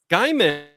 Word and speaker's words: Gaiman: Gaiman, because it's like rye, like RAI. So it would be GAI, like Gaiman. Not Gaiman.